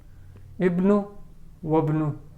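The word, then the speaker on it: ابن: At the beginning we will pronounce, and in the middle it will get dropped in pronunciation. Ibnu wabnu. Ayna ibnu Hamidin. As Ibnu is appearing in the middle, this Hamza won't get pronounced.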